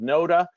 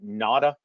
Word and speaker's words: Noda: It's called Noda. Some people pronounce it Nada, but I'll show you